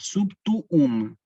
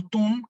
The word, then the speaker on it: Sub tuum: se tiene que pronunciar subtoon de hecho esta palabra se separa en sílaba así tú um para qué Para que se pronuncien las dos palabras no es lo mismo túm que subtoon presidium Acá está el